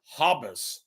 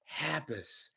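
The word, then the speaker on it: Habush: of thousands of dollars not hobus law habus Hab Hab habus law we all make mistakes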